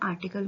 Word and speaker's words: article: तो ए का sound uh, र, आर, टी आई टी, सी एल क्ल, ई एंड में आ रहा है तो प्रोनाउंस होगा ही नहीं, तो आर्टिकल, आर्टिकल।